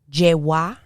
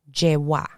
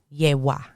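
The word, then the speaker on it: Yewá: ch yeh in spanish i've heard the two the two pronunciations je wah is the most common one je wah but i have heard ye wa so either of those is acceptable and in spanish it's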